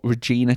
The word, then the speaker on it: Regina: We're on the last podcast we were on a competition for Regina Chains. Now I must apologize cuz on the on the last podcast I was pronouncing it ra Reagna or something but it's Regina and uh the we've